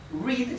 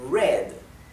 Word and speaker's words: read: si se se dice red pero se escribe igual así que en inglés tenemos una palabra que se escribe igual y se pronuncia diferente si el inglés es